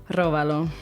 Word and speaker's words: róbalo: Now you remember how do you pronounce that word? Róbalo.